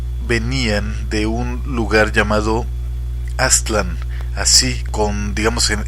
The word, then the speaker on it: Aztlán: de un lugar llamado aztlán así con digamos en el acento en la a atland no aztlán aztlán todas las palabras nahuas son graves no agudas bueno salvo algunas raras